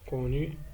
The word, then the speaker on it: connus: Les mots qui contiennent la lettre C, elle se prononce K, sont connus, beaucoup.